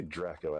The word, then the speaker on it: Draco: Well, just uh call me Draco, actually. And there's a story for that because I pronounce it with the short a sound so that people will